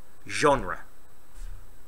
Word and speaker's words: genre: And I said, "It's genre." And he went, "Really?" I said, "Yes." I went, "Okay." Because it's spelled G-E-N-R-E, genre, because it's French and the English just steal words.